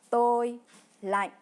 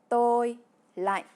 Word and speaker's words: tôi lạnh: Pour dire j'ai froid, en vietnamien, c'est tôi lạnh, qui se prononce tôi lạnh.